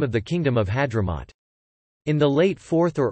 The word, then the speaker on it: Ḥaḍramūt: Hadhramaut, and given that Hadhramaut is the colloquial pronunciation of the name, and apparently also its ancient pronunciation, the correct reading of the name should be place of Hdrm.